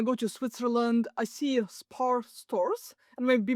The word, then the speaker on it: Spar: Spar, as you pronounce it accurately, is a grocery store here in Switzerland.